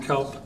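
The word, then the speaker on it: Caupp: and your address for the record uh kelp 3233 south atlantic boulevard on on the board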